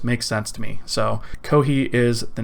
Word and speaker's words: Kohi: Well, Kohi is basically the Japanese pronunciation for coffee.